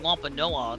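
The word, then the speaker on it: Wampanoag: The Plymouth Colonist and Wampa Noah. That's how you pronounce that.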